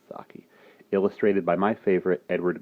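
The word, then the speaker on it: Saki: other stories by sake who I used to pronounce the Chi but it is pronounced sake illustrated by my favorite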